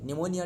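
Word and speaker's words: pneumonia: world पनमनियन न्यूमोनिया डे पनमनियन P silent है निमोनिया डे 13 नवंबर world kinase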